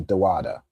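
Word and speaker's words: דודה: So now dada is aunt. I'd probably I pronounce it more that way to um to be clear that you're not talking about like King David, right? whose name we pronounce as daad, right? So just each of those letters da. Okay, you have dad and you have dada.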